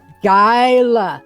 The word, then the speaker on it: Gyala: Gyala.